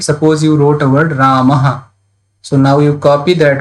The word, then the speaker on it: Rama: Like Rama, Rama is there. So most of the Hindi speaker will pronounce as Ram. So last a they will not pronounce.